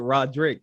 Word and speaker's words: Roddrick: I pronounce it Roddrick, but Roddrick is pretty dope.